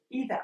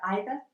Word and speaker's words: either: So either / either and neither / neither are not necessarily homographs; we just pronounce them in two different ways, and 'either' or 'either' is absolutely fine!